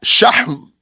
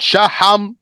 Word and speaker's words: شحم: Shahm. Not shaham or shahim or shahum. It's shahm.